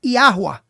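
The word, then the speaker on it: Yahweh: A pronúncia correta transliterada seria Iarua.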